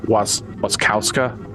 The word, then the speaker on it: Wasikowska: You're talking about Mia Wasikowska. Yeah, I believe is how you pronounce whatever her name is.